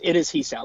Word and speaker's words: Hisao: Oh my, is that Hisao? Hisao? I don't know how it's pronounced. I didn't realize you were here. It is Hisao, by the way.